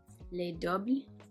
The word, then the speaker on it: Les Doubles: Les Doubles, I believe is how you would pronounce it in French.